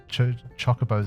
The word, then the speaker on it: chocobos: I can't chocobos is just so bad. It's chocobos, I'm sorry. I just can't accept any other pronunciation.